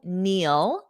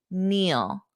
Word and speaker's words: kneel: our verb is to kneel kneel notice that pronunciation the K is silent when we have k n the K is silent repeat after me kneel kneel Joe was kneeling when